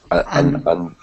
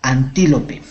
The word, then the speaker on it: antílope: pero lo has dicho cómo lo has pronunciado antop antop está un poco errado la pronunciación es antílope o antílope antílope antílope vale antílope